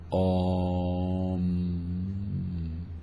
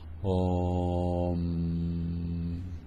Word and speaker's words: Om: La palabra Om tiene un tratamiento especial. Se pronuncia Om. La mitad del tiempo con la boca abierta, la mitad del tiempo con la boca cerrada. Om.